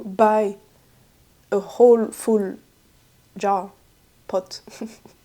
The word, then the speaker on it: pot: But I wouldn't say like if I had to buy a whole full jar pot because in French it's po P O T.